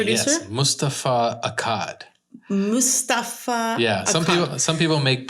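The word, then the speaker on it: Moustapha: because who is the producer all right yes Mustafar Akkad yeah some people make pronounce it Mustapha like kind of like pasta yeah but but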